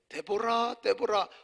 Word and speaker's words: 데보라: 여기 여성분들이 많이 계신데 데보라 화장품, 미국에 가면 화장품 이름이 데보라가 많아요. 그게 드보라의 미국식 발음이에요.